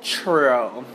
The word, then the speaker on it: chutoro: This is a fatty tuna, and it's called chutoro. Chutoro. So I've been pronouncing this wrong for the sushi connoisseurs.